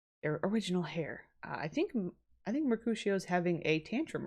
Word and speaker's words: Mercutio: It is Mercutio. It's like a sh.